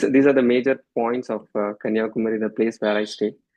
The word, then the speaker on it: Kanyakumari: You can see the sunrise and sunset from the same point in Kanyakumar. So the pronunciation is Kanyakumar.